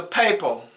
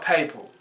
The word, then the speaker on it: papal: I did some, who's the papal? Papal. It's called papal. Papal is the Pope, okay? It's P-A-P-A-L. And then how I pronounce it is P-A-Y-P-A.